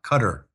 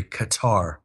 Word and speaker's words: Qatar: and Qatar Financial sources us commentators call Qatar they call it cut cutter which is the wrong pronunciation but unfortunately we have to suffer that when you watch us uh commentators like wolf Blitz are calling it cutter it's really Qatar yeah so so that